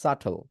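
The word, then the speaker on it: subtle: কি বলা হয় সাটল এখানে যে বি আছে এইটা হচ্ছে সাইলেন্ট এই বি এর জন্য আসলে নরমালি ভুল করে থাকে এটার উচ্চারণটা ঠিক আছে তাহলে এইটা বি থাকলেও বিটা কি হবে সাইলেন্ট হবে তাহলে আমি বলতেছি কি সাটল আপনি উচ্চারণ করে ফেলেন সাটল এটাকে আর বি উচ্চারণ করবেন না এজ সিম্পল এস দ্যাট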